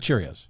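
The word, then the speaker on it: Kyrgios: he would probably be curious he is that how you pronounce his name by the curiosity yeah um like cheerios yeah curious yeah sure we're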